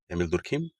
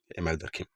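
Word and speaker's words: Émile Durkheim: ठीक है, एमिल दुर्खिम, इमाइल दरखिम, जैसा आपका प्रोनाउंसिएशन ठीक है।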